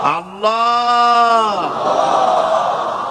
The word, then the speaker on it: আল্লাহ: পাকের নামের উচ্চারণ হচ্ছে আল্লাহ মুখটা একটু গোল হয়ে যাবে বলেন আল্লাহ আল্লাহ সুবহানাল্লাহ পৃথিবীতে বিভিন্ন জাতি